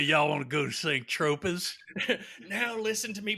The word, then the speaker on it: Saint-Tropez: Saint-Tropez.